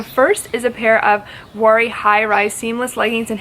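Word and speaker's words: Vuori: now it is very i'm probably not pronouncing that right it's v-u-o-r-i worry leggings this is an athletic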